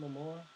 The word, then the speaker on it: Momoa: I mean, it's is it Momoa? Momoa? Jason Momoa? Yeah. Yeah, that's how you pronounce it.